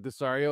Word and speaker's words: Desario: You know, like you say like Desario, and then I think of like pizza, right? And yeah, he's like Mario, right?